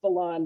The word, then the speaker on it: Bellon: sorry book that's okay my last name just printed mispronounced all the time it's blonde but everyone says villain but anyway but yeah